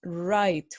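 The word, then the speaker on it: write: then the verb right never pronounce the W is right with our right plus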